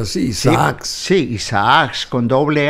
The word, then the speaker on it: Isaacs: Se pronuncia así, Isaac.